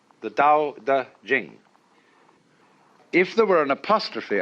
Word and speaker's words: Jing: pronounced du and Jing there is no apostrophe after the CH so if there were it would be pronounced Ching but it's Jing like a j and so Jing in